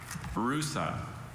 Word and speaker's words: rusa: Rusa, Are there any alternate pronunciations? Just the one, Rusa.